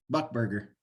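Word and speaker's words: Buckberger: It's like $1 and a burger, buck burger.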